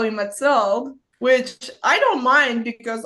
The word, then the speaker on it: Mathilde: name like it's like we say Matel in French yeah yeah but like English people call me Matel which I don't mind